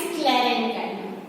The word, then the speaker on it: sclerenchyma: See the students, their pronunciations. Parenchyma, collenchyma and sclerenchyma.